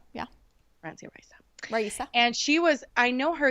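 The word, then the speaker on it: Francia Raísa: Risa. Yeah. Francia Risa.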